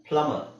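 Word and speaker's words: plumber: ನಿಮಗೆ ಪ್ಲಮ ಪ್ಲಮ ಅಂತಇದೆ ಸೋ ಇಲ್ಲಿ B silent ಅದಕ್ಕೆ ನಾವು ಈ ಆರ್ ಹಾಕಿದಾಗ ಅದು ಪ್ಲಂಬರ್ ಪ್ಲಮರ್ ಪ್ಲಮರ್ ಅಂತ ಆಗುತ್ತೆ ಪ್ಲಂಬರ್ ಅಂತ ಹೇಳಬೇಕು ಅಂತ ಕೇಳಿದ್ರೆ ಪ್ಲಂಬರ್ ಅಂತ ಹೇಳೋ ಅವಶ್ಯಕತೆ ಇಲ್ಲ ಯು can just say ಪ್ಲಮ ಪ್ಲಮರ್ okay ಹಾಗೆ ಇಲ್ಲಿ ನೋಡಿಟಿಎಲ್ಇ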